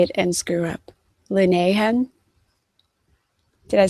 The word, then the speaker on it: Linehan: Linehan.